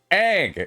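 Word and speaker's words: Aang: Avatar not ang okay it's no it's ang it's how they say it that's how it's pronounced I don't know why those fools decided to write it's dumb and you know Moonflower.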